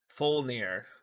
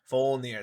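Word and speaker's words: Fjölnir: Uh, uh, Fulnir, Fulnir. That's how you say it. You don't use the J.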